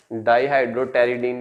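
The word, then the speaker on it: dihydropteridine: Basically डाईहाइड्रोटेरिडीन, ये पी इसमें silent है, ठीक है, प्लस पाबा, इन दोनों की कंडेंसेशन होती है।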